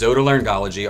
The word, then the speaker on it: otolaryngology: lot what Otolaryngology is many patients including my own daughter sometimes can't pronounce the word correctly but it is Otolaryngology our official name of